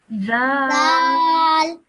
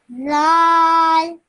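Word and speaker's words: ذال: Zal. Okay, excellent. Now this one, just take the tip of your tongue and touch it to your top teeth when you say that, okay? Zal. Once again. Zal.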